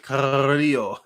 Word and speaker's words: Carrillo: Yeah, how they pronounce it, right? Carrillo. Yeah, I have a hard time rolling. I'm white. I have a hard time rolling my R's.